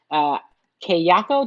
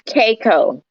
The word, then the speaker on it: Keiko: So I'm glad to invite Kayako. Do I say it right? Is that how you say it? It's Keiko. Keiko.